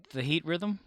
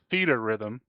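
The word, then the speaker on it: Theatrhythm: it's pronounced out loud the heat rhythm the heat Rhythm okay it's pronounced theater Rhythm theater rhythm but I was watching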